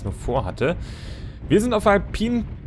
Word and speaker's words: Alpine: vorhatte wir sind auf alpin Peaks oder alpine alpin alpin ich glaube alpin wird das ausgesprochen korrekt alpin Peaks und zwar